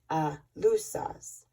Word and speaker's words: Aluxes: It is important also to visit the small temples where the Aluxes, or guardians, and that is spelled A-L-U-X-E-S, in parentheses, guardians, do their spiritual work. The Alusas, it's pronounced Alusas, to the Maya, are the spirits of things that exist.